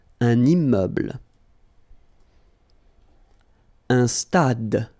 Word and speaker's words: stade: Un stade. Same thing here. Final is not pronounced.